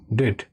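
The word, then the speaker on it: debt: ডি বিটি ডেট। এটা মানে হচ্ছে ঋণ। আর ইনডেটেড টু দেখো ডেপড বলবে না এই বিটা এর উচ্চারণটা সাইলেন্ট থাকে ডেট হয় কেমন ডি বিটি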